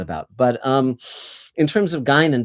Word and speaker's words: Guinan: But in terms of Guinan, by the way, it's pronounced Guinan, and Gene Roddenberry named